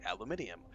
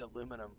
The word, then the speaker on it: aluminum: And so when I saw aluminum, my brain immediately was like aluminium, which is the British pronunciation. And my brain literally never said, dude, it's spelled the American version. It's aluminum.